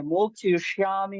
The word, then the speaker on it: मोक्षयिष्यामि: श्लोक तो आपका बिल्कुल सही है, लेकिन मोक्षयिष्यामि माँ में जो इकार की मात्रा ह्रस्व मतलब छोटी है, दीर्घ नहीं है, बड़ी ई की मात्रा नहीं है। मोक्षयिष्यामि मा शुचः।